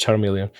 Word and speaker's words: Charmeleon: to attack you're like okay it's pronounced Charmeleon which uh well if you speak English then it's is obvious if you don't it's not that obvious um oh shift Tre